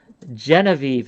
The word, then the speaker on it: Genevieve: Madam Genevieve, is that how you say it?